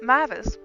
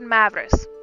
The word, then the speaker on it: Mavris: Mavis. No, I said Mavris. There is no Mavis.